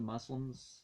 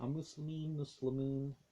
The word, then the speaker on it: Muslimun: The Muslims is not the right pronunciation. Muslimun.